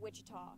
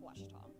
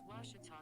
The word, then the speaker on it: Ouachita: sports digital network back in texas everybody pronounces it wichita but really it's ouachita washington washington how would you pronounce it it's washita baptist university get it